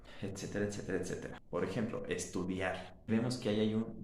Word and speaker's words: estudiar: una vocal abierta juntas, pero el acento fuerte está en la vocal abierta. Estudiar. Si estuviera en la vocal cerrada, en el caso de la I, deberíamos usar la tilde. También serían dos sílabas diferentes. Estudiar.